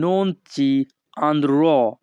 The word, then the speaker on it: non ci andrò: উচ্চারণটা কিন্তু হবে non ci andrò। andrò কিন্তু হবে না, উচ্চারণটা হবে andrò।